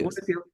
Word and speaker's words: Woxsen: This is, how do you pronounce this university? Woxsen, right? University. Woxsen, yes.